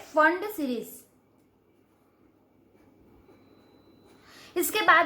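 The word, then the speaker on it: Pfund: यहाँ पे P silent है, इसको फंड सीरीज पढ़ते हैं।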